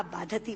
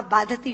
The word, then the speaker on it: बाधते: मुंह से बोला हुआ बाधती शब्द कष्ट दे रहा है, क्योंकि बाधती शब्द का अशुद्ध उच्चारण आपने किया है। ये शब्द बाधते होना चाहिए। भारम न बाधती राजन यथा बाधती बाधते।